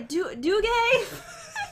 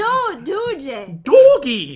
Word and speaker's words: Doogie: Doogay? Doogay? How do you say it? It's, most people don't know how to pronounce it properly. It's Doogie. Doogie.